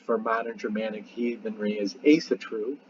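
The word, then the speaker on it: Ásatrú: even Ria's ASA true a lot of people say Asatru and I've said Asatru many times but the Aesir ASA true probably a better pronunciation I'd have to ask how they pronounce it in Iceland today but I'm assuming it's ASA true and you know ASA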